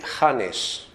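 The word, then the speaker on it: kan: hanan y de los como dicen aquí los elc no bueno la pronunciación correcta sería han Entonces por qué estos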